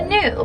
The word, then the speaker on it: gnu: Now, another name for a wildebeest is a gnu. It's spelled G-N-U with a silent G.